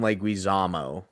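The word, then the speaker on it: Leguizamo: And you base it off of John Leguisamo, but you pronounce his name wrong. And you say John Lamo.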